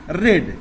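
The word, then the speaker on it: read: उसके बाद रेड, इसको रीड लिखेंगे, रेड पढ़ेंगे, third form रीड रीड रीड ही, रेड रेड रेड होता है, स्पेलिंग सेम होती है, इसलिए इसको रेड पढ़ेंगे। हिंदी में इसका उच्चारण हम रेड करेंगे।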